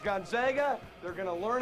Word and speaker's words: Gonzaga: we can't play with this isn't Cinderella it's pronounced gona they're going to learn how to pronounce it